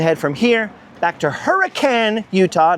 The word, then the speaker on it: Hurricane: So I've got to head from here back to Hurricane, Utah. Not hurricane, hurricane. Trust me, you can't pronounce it hurricane without getting scolded by the townsfolk.